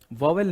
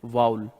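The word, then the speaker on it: vowel: First category वाउल, इसको लोग वॉवेल pronounce करते हैं। वॉवेल नहीं, दैट इज वाउल। आज से वॉवेल मत बोलना क्योंकि गलत प्रोनाउंसिएशन है।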